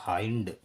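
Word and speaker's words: hind: एच आई एन डी, इसका उच्चारण होगा हाइंड।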